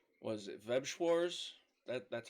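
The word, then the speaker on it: Weiß Schwarz: Maybe it's was it Webschwars? That's how it's pronounced.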